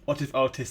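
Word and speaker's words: WhatifAltHist: What if Altist? That's how you say it.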